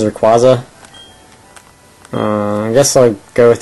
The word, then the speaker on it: Rayquaza: I think the official pronunciation is Rayquaza.